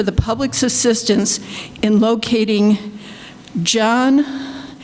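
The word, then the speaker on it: Jyon: It says, the Dearborn Police Department is asking for the public's assistance in locating John, it's spelled J-Y-O-N, Collins, a person of interest in connection with the November 7th hit and run.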